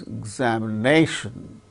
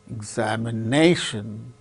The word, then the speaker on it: examination: See, for instance, examination, examination, examination. How many syllables are there? Examination, 5 syllables. So, examination, nay. So, fourth syllable gains primary stress, more importance. Another word also, another syllable also gains little bit less importance, xa, xa, xa. A second syllable gains less importance. So, it is said to receive secondary accent.